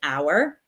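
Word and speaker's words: hour: We don't pronounce the H. We don't say how. We say our.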